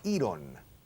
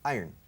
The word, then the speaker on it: iron: Iron. Iron. Imaginad que decís yo gano dinero. I earn money. I earn. Acentuando I, juntas las dos palabras como si fuera una.